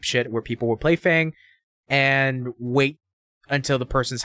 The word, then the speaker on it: Fang: character from Street Fighter named Fong. Or Fang, if you want to say it like that. But Fang was also a poison type character.